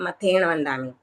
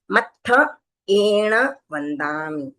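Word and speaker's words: मत्थएण वंदामि: और काफी लोग ए को खा जाते हैं मथण वंदामि ए आता नहीं है तो इसको मतलब स्पेशली आपको अलग से दिखे सुनाई दे उस तरह से लिखना भी है बोलना भी है और उच्चारण भी वैसे ही करना है।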